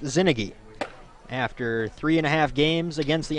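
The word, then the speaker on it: Czinege: Zinnigy is spelled C-Z-I-N-E-G-E, but pronounced Zinnigy.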